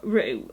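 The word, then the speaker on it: Roux: language of flowers by jessica rue which is spelt r-o-u-x this is an illustrated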